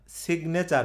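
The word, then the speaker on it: signature: কি হয় বলেন তো তখন কিন্তু আর সাইনে চার হয় না সিগনেচার হয় সিগনেচার হয় এটার কারণ হলো এটাকে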